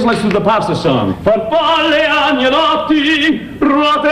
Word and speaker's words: farfalle: Farfalle. No, you pronounce it farfalle, like a bow tie.